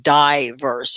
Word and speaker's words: diverse: state of being diverse you say it like eyes die verse okay when you say